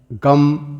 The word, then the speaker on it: गं: वरद मूर्त नमो नमः सर्वप्रथम गन के आदि अक्षर ग का उच्चारण करें तदनंतर वर्णों के आदि अक्षर अ का उच्चारण करें इसके पश्चात फिर अनुस्वार का उच्चारण होता है इस तरह अर्ध चंद्र